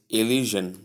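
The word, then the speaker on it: elision: E L I S I O N P pronunciation is illusion please there is um a little inclusion of little inclusion of a word I mean a letter that shouldn't have come here the sound shouldn't be here please note that it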